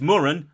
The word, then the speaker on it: Moran: going to be talking Emma morens and it's pronounced Moran David yes it's Moran not like Moran not like Dylan and I